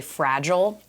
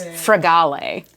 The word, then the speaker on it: Fragale: ones coming to so people mispronounce my last name all the time and they say they say fragile fragile but it's fragale fragile it must be